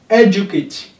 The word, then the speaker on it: educate: Educate. E is stressed.